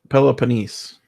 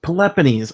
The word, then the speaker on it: Peloponnes: I said a lot Peloponnese yeah I love bananas it's play has multi-use cards I like that but he said Peppa nice Peppa knees I I know I was saying it wrong couldn't been right and